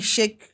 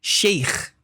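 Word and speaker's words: شيخ: Para começarmos, o nome é Sheik Mikdad. O que significa Sheik? Na religião islâmica. Literalmente, para começar, a expressão sheik provém, até a pronúncia sheik está errado. Como é que se Sheik. pronuncia? Sheikh.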